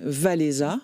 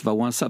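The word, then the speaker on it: Wałęsa: çate de ce syndicat c'est les Vala comme vous le prononcez vous moi je prononce l' va ça parce que c'est comme ça qu'on prononce en polonais le polonais n'est pas facile à prononcer totalement contreintuitif on prononce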